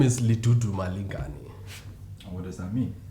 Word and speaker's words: Lidudumalingani: other african name i've known can can you pronounce that for us uh my name is li tutu malinkani and what does that mean uh it means